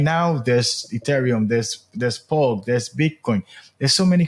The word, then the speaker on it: POLC: You earn POLC or the POLC token to make it easy within the game.